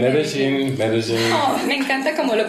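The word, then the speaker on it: Medellín: Oh, Medellin. No, Medellin.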